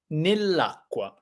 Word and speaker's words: nell'acqua: So we get rid of one of the final A in the complex preposition, and it becomes a nice word, nell'acqua, which sounds incredible.